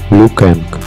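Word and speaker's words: Liu Kang: Лю Канг. Другие варианты произношения имени Лю Канг. Лю Кэнг.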